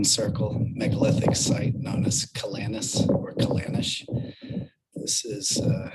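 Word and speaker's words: Ceanannas: A lot of the reason why there's two names is because you have like the Gaelic original Gaelic pronunciation and then you have like the more a anglicized uh English pronunciation. So the English pronunciation would be Kanish.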